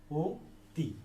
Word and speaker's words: অতি: এই যে অতি শব্দকে যখন আমরা উচ্চারণ করছি, অতি শব্দের উচ্চারণ কিন্তু আমরা করছি এভাবে, ও তি। আমরা কিন্তু বলি না অতি, আমরা কিন্তু বলি না অতি, এভাবে বলি না, আমরা বলি অতি।